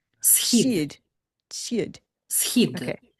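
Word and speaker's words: Схід: know that most Americans have a problem with the pronunciation of our word, very short one, monosyllabic. Schid. Schid. Shid.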